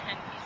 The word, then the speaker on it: Henneke: Some of these horses that have come in, they were a 1 on the Henneke scale. Is that correct pronunciation? Yes. Okay, good. So they were a 1 on the Henneke scale, and they're now undergoing the rehabilitation process.